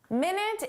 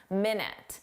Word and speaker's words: minute: Minute is our time reference, 60 seconds. You know how to pronounce that, minute. But there's an adjective, minute. Minute. Minute means very small.